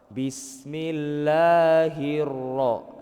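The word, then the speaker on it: الرَّحْمٰنِ: Jadi paling-paling yang lebih ditekankan itu di huruf ro, Pak. Bismillahirro. Nah, itu ada yang namanya tasdid ya. Jadi lebih ditekan lagi.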